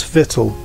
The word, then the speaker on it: victual: Though the difference seems little, we say actual, but victual.